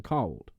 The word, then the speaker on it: Cauld: This developed into the title of The Cold Lad of Hilton that we know today. Or I imagine in like modern words, cold lad. Yeah. It's spelled Cauld. Cold.